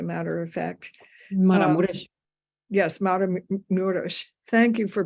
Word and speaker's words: Maramureș: Yes, Maramureș. Thank you for pronouncing everything correctly, which I haven't been.